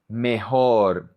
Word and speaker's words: mejor: La J en español sounds like the H in English. So we say mejor, mejor, better, mejor.